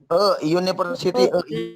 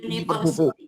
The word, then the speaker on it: university: University. University. Mantap. Jadi university. Kenapa? Karena larinya dia jadi ye. Bunyinya Bunyinya berubah mungkin. Bunyinya jadi university. Y ya, uni dibacanya. University. Jadi larinya ke konsonan.